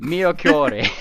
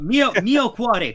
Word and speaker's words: mio cuore: Miyokure. No, mio cuore. Cuore, okay. Mio cuore. There we go. There we go. You don't quite roll the R. You just let it touch the roof of your mouth.